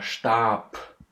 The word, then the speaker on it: Stab: have, for example, der Stab, der Stab. And see, in the end of the word, this softness is getting lost. So this B is actually something like a P, yeah?